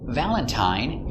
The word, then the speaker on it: valentine: one of three sounds valentine uses a long i the same as mine valentine valentine but sometimes